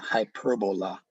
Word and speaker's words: hyperbola: At the center of the torus field is what is called a hyperbola, or hyperbola, properly pronounced.